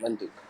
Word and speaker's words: Windhoek: Wind, like wind, you spell it the same way. Wind, wind, hook, like corner.